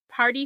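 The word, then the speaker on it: Pardi: named party party it it's spelled p a r d i party Fontaine um all the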